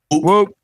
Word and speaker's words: Whoop: Whoop.